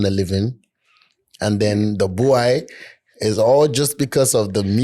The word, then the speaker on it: Bwoy: Yeah, boy.